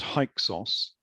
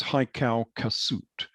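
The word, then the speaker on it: Hyksos: now modern interpretations because the original name was haikal kasut it was not hike sauce it was haikau kasut uh which can mean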